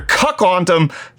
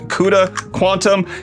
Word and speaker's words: CUDA Quantum: about nvidia and their cuck ontom what cut quantum framework i know that's not how i'm supposed to pronounce it but it's supposed to be like cuda quantum nvidia's quantum which is